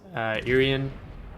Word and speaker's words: Irian: And this Iowa and this Irian, that's how you pronounce the ship, are not going to be able to go dark because we have the speed.